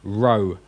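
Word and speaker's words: ῥῶ: then we've got row this looks like a pea but it's an hour sound Rho R as in rent rough so when you think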